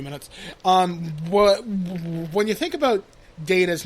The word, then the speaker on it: Data: He says that the pronunciation of the word differed to Spiner's. To settle the data versus data debate, Gene Roddenberry created a new rule for the show on the spot.